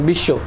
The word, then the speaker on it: বিশ্ব: দেখি প্রথমে বর ক্ষেত্রে দ্বিতীয় উচ্চারণ হয় যেমন বিশ্ব বর উচ্চারণটা হয় না শব্দের অর্থাৎ যে দ্বিতীয় উচ্চারণ